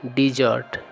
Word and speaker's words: desert: और एक अन्य वर्ड होता है, वह होता है DESSERT और उसका उच्चारण भी होता है डिजर्ट।